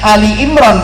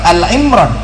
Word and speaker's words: Ali Imran: Bacanya Ali Imran bukan Al Imran.